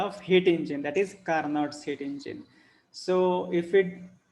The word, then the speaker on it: Carnot: okay so this is carnot heat engine so here carnots hit engines it is first point it is an ideal engine invented by sadiq carnot okay pronounce it car not okay not can care